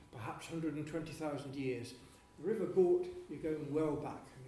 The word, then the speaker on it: Gort: I'll stick with Gort, which is one syllable.